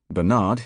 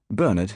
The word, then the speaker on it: Bernard: Bernard in USA, Bernard in UK, though the surname is tending to follow US convention over here and the BBC lays it down.